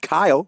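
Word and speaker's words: Cyle: Kyle Yoakum, spelled with a C, but it's still pronounced Kyle, from Tennessee.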